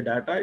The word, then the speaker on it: data: Data is a commonly pronounced word in English. In India, we say data, it is actually data.